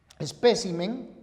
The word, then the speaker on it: espécimen: Pero atención, si los nombres esdrújulos acabados en consonante, al pluralizar, cambian la posición de la sílaba tónica. Entonces, si la palabra es espécimen, al pluralizar, queda en especímenes.